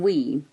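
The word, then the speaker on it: Uamh: The name Weem was developed from the Scottish Gaelic, and the word is spelled A-U-A-H-M, and that's Weem in Gaelic, meaning cave.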